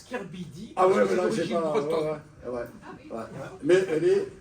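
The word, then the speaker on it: K/Bidi: de la Réunion Émeline Kabidi. Et en fait on prononce Kirbidi Ouais ouais mais elle est à la Réunion.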